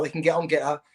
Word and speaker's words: Gettr: But so just go to the App Store and download Getter. Take 10 minutes. Tommy Robinson 1. That's my handle. And Getter, because it's spelled GETTR.